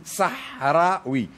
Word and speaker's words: Sahraoui: saraoui alors c'est ça parce que nous on prononce le ha donc on dit sahraou Sahra oui et alors même pour